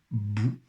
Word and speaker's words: bout: Le mot bout, avec un T muet, un bout de quelque chose, un bout de pain par exemple.